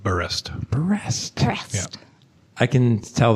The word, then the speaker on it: Berest: I don't know anything about Tina Cover, the translator, or Anne Berest. I don't even know how to pronounce her last name, to be honest. The audiobook reader called it Berest.